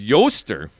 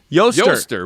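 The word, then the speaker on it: Eostre: Her name is Yoster. Yoster with an E.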